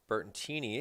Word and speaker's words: Bertoncini: Bertantini is how to properly say. I was kind of waiting for the scoreboard operator to say his name. Bertoncini.